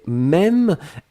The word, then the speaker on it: même: Et puis la dernière chose, c'était même, M-E, accent circonflexe, M-E.